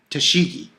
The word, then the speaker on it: Tashigi: to say her name correctly t t shigi tashigi t shigi there we go so tashigi and